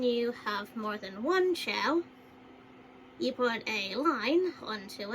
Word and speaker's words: Chao: So basically, if you can see the difference between chaos and chow, basically the way you pronounce chow is chows, with an S at the end.